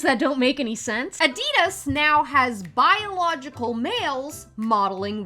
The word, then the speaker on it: Adidas: sex change surgeries actually it's German and it's pronounced Adidas it's just a simple